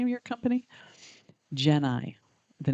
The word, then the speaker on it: Geni: The first thing I want to say, because I've been asked it so many times, is how do you pronounce the name of your company? Geni.